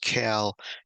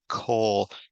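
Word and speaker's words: כל: So coal is one of the ones, so it's not pronounced cal, even though the Bible Hub shows it that way. It really isn't correct. It should be kol hayamim.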